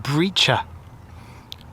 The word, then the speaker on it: Breccia: Now what you're looking at here is Torbay Breacher. I think that's how it's pronounced. It's spelt Breccia, Breccia, I think.